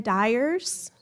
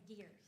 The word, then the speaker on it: Dyers: the first person karen dyers dears dears my name is dears dears yes you call me dyers yeah sorry just to